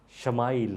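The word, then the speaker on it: ישמעאל: نے نام رکھا اسماعیل۔ عبرانی میں اسماعیل کا تلفظ شمائل ہے۔ شمائل کے معنی ہے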